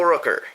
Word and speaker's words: Rooker: it'll come to me Michael Rooker yes I remember that because it rhymes with hooker okay um don't ask